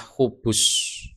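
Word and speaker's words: خبث: Jadi lafadznya adalah khubus, ba-nya di dhammah.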